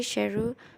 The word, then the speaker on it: Sheru: care for her son Sarah later learned that he had been mispronouncing his own name for all those years which was actually sheru means lion well from the story